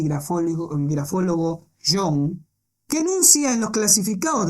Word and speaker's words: Jung: He hablado de algún parapsicólogo y grafólogo Jung, que habría que pronunciar como Shung, porque lo escribe con doble O.